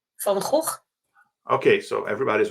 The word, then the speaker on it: Van Gogh: pronunciation? Van Gogh.